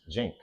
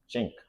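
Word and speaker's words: Cenk: The guy's name is Jink. Jink. I don't really pronounce it. It's Turkish. He's not calling him a chink.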